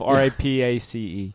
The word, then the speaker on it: Rapace: R-A-P-A-C-E.